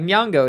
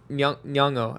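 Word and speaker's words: Nyong'o: again it's very hard I was corrected by Junior this afternoon at lunch I was like nongo and he was like uh yongo and I was like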